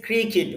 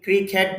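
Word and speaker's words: cricket: He plays ক্রিকেট, অনেকে ক্রিকেট বলে, আসলে ক্রিকেট উচ্চারণটা হলো বাংলা উচ্চারণ। আপনি যদি ইংরেজি উচ্চারণ করেন তখন ক্রিকেট হবে না, ক্রিকিট, ক্রিকিট হবে, আর বাংলা হবে ক্রিকেট।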